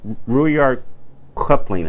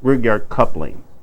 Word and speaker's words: Rudyard Kipling: I'm going to tell you something, a little poem I read by Rudyard Kipling. I think that's how you pronounce his name. Rudyard Kipling.